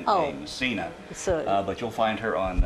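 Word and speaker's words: Micina: it up under the uh her stage name missina m m excuse me it's pronounced mcka it's spelled m i c i n a massina but you'll find her on uh on YouTube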